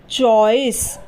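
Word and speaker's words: choice: यहां स लिख देंगे और ई आखिर में है इसलिए इसका उच्चारण नहीं होगा यानी कि उसका इस्तेमाल नहीं किया जाएगा वो साइलेंट रहेगा तो यह बन जाएगा चॉइस सी एच ओ आई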